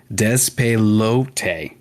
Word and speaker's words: Despelote: I was butchering it every time, but it's despelote.